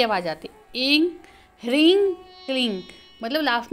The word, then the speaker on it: क्लीं: ग बोलते hurrying cling क्योंकि जो क्लीम शब्द है वह भगवान श्री कृष्ण के लिए यूज होता है और देवी का शब्द क्लिंग ओ ऐ हरिंग क्लिंग चामुंडाय विचे यह इसका शुद्ध उच्चारण है ओ में परब्रह्म का